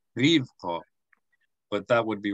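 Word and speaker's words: רִבְקָה: It's either Rivqa or Rivqa. Ribqah? It's either Rivqa, which is accenting the first syllable, Rivqa, yeah. Or it's Rivqa, which is accenting the second syllable.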